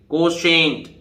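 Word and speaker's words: quotient: देखिए motion, motion माने गति, अब देखिए कोसेंट, TIE से शाह बनेगा, पता है ना, पहला नियम। देखिए ये इसमें बताया था, TIE से शाह, ठीक है, शाह उच्चारण। तो देखिए कोशेंट, देखिए कहां लिख दिया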